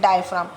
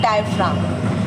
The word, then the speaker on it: diaphragm: उसे हम कहते हैं डायफ्राम. किसकी होती है परत? मसल्स की होती है, ठीक है. डायफ्राम, क्या बोलेंगे हम इसको? डायफ्राम. अब देखो, PHRAGM, जी साइलेंट रहेगा इसमें, जी का प्रोनाउंसिएशन नहीं है. डायफ्राम, ठीक है, डायफ्राम, ठीक है.